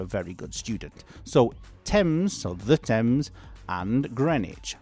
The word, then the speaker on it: Thames: The spelling is t h a m e s. No, it's not Thames. It's Tems. Basically, the pronunciation is Tems, as if it's a t e m z, let's say.